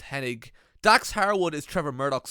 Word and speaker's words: Hennig: looked bad in comparison kurt hennig was kurt henning but somebody spelled his name wrong and he was too polite to correct them and that's why it's it's hennig dax harewood is trevor